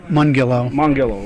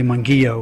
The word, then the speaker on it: Mongillo: Mangillo. Mongillo. Well, Mon like Monday, a gill like a fish, and then O is the easiest way.